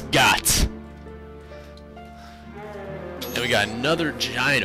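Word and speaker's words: Goht: god's name is god it's not goat it's got and we got another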